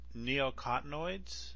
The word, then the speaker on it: neonicotinoids: The neonicotinoids? Is that how you pronounce it?